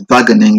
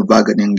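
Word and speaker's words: Wageningen: in the previous video in German and in Dutch the W is pronounced as V so it's vening in University of research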